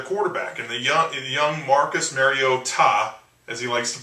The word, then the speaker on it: Mariota: And the young Marcus Mariota, as he likes to pronounce it. I thought it was like a Spanish name, Mariota or something.